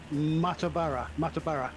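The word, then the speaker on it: Muttaburra: I don't know how to pronounce that. Is it Mattaburra? Mattaburra.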